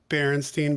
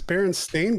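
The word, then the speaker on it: Berenstain: remember it bothering me when people would stay Berenstein Bears and I'd be like it's bearing stain bears like I like what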